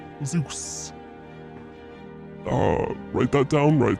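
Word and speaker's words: Zos: My name is Zeus, but it's spelled Z O S. Zeus.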